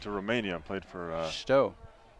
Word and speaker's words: Steaua: Went to Romania and played for Stowe. Is that how you pronounce it? I've always said Stoa.